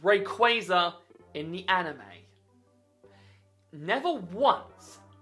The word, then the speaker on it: Rayquaza: This is a Rayquaza, not Rayquaza. If anyone calls it Rayquaza, you're going to meet a very unhappy chappie waiting at your front door. It has always been pronounced Rayquaza in the anime.